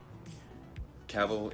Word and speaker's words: Cavill: Cavill is pronounced like travel.